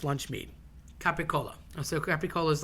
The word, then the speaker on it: capicola: lunch meat capicola so capicola is like a a spicy ham it could be hot or sweet cap and people tend to say Gabba goul that just sounds disgusting why would you want